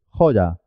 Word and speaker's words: joya: pronuncia la palabra siguiente joya Así es joya Jo y la y como una y consonante Jo ya porque empieza sílaba Jo ya y la